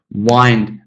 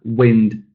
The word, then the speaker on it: wind: Pay attention to the pronunciation, guys. Yes, wind, verb, not wind, the noun.